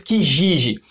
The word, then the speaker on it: Kijiji: Existe um site muito conhecido no Canadá que nós pronunciamos Kijiji.